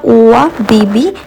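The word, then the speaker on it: ÖBB: Actually ও নয়, ও এর মাথায় দুটি পুটকি থাকার জন্যে যে উচ্চারণটা ওয়া বিবি, এটাই হয় উচ্চারণ।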